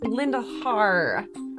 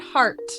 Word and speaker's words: Lindelhart: Lex Lindelhart, so good of you to meet on such short notice. Yes, and it's Linda Har, not Hart.